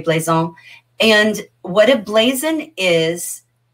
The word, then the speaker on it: blazon: spelled with an s so like blaze on b-l-a-z-o-n in the french you probably would say bleison and what a blazon